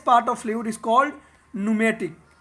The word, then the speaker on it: pneumatic: एंड the gaseous part of fluid is called न्यूमेटिक। न्यूमेटिक को पी से लिखते हैं, PNEUMATIC, लेकिन इसको पढ़ते हैं न्यूमेटिक।